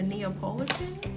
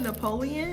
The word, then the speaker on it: Neapolitan: think I might do a vanilla and a Neapolitan. That's how you say it. When I was at work, I called it Napoleon.